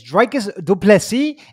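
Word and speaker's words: Dricus du Plessis: up this line um didn't you listen to drakis last time he told you exactly how to pronounce his name he said i'm tired of people saying it wrong and here you are every week saying people's names wrong especially the guy who told you not to say it wrong he even pronounced that to say it wrong dreikis said it he said my name is dracus duplessi and you all are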